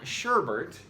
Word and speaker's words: sherbet: You've probably been adding an R here since you were able to swallow sherbet. It's not sherbet, it's sherbet. When said correctly, it rhymes with curbit.